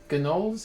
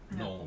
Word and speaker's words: gnolls: and Gnolls, is that how you say it? Knowles. No. Knowles. the G is silent.